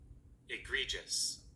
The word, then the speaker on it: egregious: spelled Egregious, and this is how it is pronounced. Egregious.